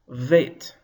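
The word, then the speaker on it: ב: Without a dagesh, the consonant is soft. You see, there's no dot in the middle of the beit this time. So now it is pronounced v, veit. Let's hear the difference again. Beit, hard. Veit, soft.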